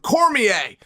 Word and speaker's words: Cormier: Apparently, he's like an equal partner in it, which I didn't know, but thank you for giving it's pronounced Cormier.